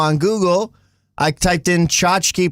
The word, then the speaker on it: tchotchke: You're just like clickers aren't real and also chachki is the is the right way to say it.